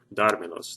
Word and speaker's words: dármelos: word dármelos like that, I have to add an accent mark right here over that dármelos, and that's because the stress on the word is 3 or more syllables back. And then let's see, let's go to this example.